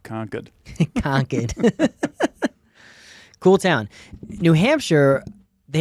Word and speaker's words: Concord: it Concord New Hampshire Concord New Hampshire that's conquered not Concord it's not a grape really because it's spelled like Concord yeah that's like that's a